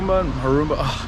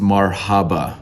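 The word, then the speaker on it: مرحبا: But Marumba, I'm gonna forget it now that I'm on the vlog. I think it's Marumba. This is from the future. It's actually pronounced marhaba.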